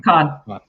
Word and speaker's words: Kahn: You can find her on LinkedIn, Ken or Khan, right? How do you say your last name? Khan. Khan.